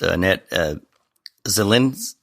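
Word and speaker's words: Annette Zilinskas: learn that you reunite with your original vocalist, Annette Zilinkas. Right. Am I pronouncing that correctly?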